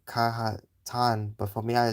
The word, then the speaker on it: Kazakhstan: I don't know why why someone would say Kahhatan, but for me I say Kazakhstan. Well, that's how I pronounce it. Kazakhstan. At least that's how that's how they say it in American English.